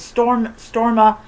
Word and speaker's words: Storma: Her name is Storma, and she was born during a really bad storm, so that's why she's named that.